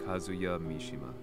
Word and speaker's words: Kazuya Mishima: banged for revenge the missed target's name was kazuya mishima so i was right that's how his name is supposed to be pronounced casually dirtying his hands began to